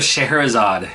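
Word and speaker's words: Scheherazade: that nobody can pronounce it's magic of shahrazad is how you pronounce that it's from a it's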